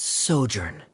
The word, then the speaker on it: sojourn: How do you pronounce this word? Let me see. That's sojourn.